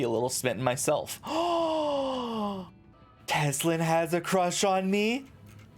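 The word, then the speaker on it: Tesleen: board our victories to teslan shall we testling teslan teslin wait have i been saying her name wrong teslan i'm gonna it's testlin outside tells me you helped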